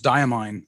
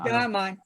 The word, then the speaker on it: Diamine: And how do I pronounce the name of that fine company? I thought it was diamine. Yeah, I did too. Diamine.